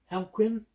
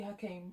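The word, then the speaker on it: Joachim: But Jesse Plemons, who plays the young princeling Joaquin, he killed someone for mispronouncing his name. Haquin? It's literally Hakeem, like Hakeem Phoenix.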